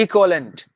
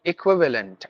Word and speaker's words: equivalent: i n environment equivalent we say equalent it should be equivalent i k w i we v v a v l a n t lent equivalent that's how we have to pronounce extravagant no extravagant extravagant executive